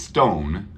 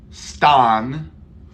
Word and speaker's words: stone: exactly thank you Stone we don't say Stan we say the long o sound why because this e gives its power to the o stone stone we don't say Stan